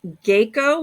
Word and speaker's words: Geiko: It'll be located in the historic Geiko, which is geisha, the way they pronounce it in Kyoto, and Maikosan district of Gion.